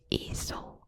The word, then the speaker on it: ezel: But Ross was like rude, and then Gunther called him an ezel or a donkey.